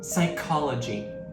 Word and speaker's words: psychology: The correct pronunciation is psychology. The P is silent.